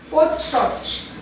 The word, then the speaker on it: portrait: So how we have to this pronounce the word portrait.